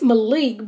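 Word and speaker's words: Mollique: i was like molly it's malik but it's spelled m-o-l-l-i-q-u-e i was like i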